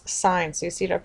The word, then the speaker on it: sine: going to talk about is pronounced as sign so you see it up here as sign s i n e